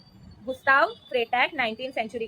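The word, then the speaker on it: Gustave: गुस्ताव का सिर्फ वी नहीं है। वी के आगे एक इ भी लगता है। गुस्तावे हो जाता है वो। पर हम उसको गुस्तावे ही प्रोनाउंस करते हैं।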